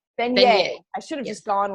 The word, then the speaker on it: Venier: Venier. Venier.